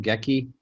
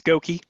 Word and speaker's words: Gokey: is it mr uh how do you say your last name gekki it's it's gokey gokey mr gokey yes sorry for not